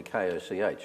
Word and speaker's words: Koch: context i guess the koch brothers are actually koch aren't they yes that pronounced coke yeah and they're two two billionaires